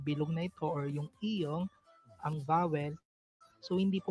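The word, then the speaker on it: 이응: lagyan ng consonant na iyong para maging syllable po yung mga vowel na iyon. It doesn't affect the sound value of the vowel because iyong is silent when it is placed before the vowel.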